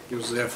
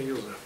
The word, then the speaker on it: Юзеф: Юзеф, как его звали тогда с неправильным ударением, его звали именно Юзеф.